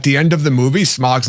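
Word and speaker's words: Smaug: But so can we I'll just ask the question, my literal last note is why would Smog I have to say it like that smog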